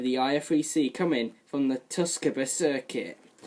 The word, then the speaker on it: Tsukuba: IF3C, coming from the Tsukuba circuit. Not Tsukuba, Tsukuba. It's very hard to pronounce, but it's pronounced Tsukuba.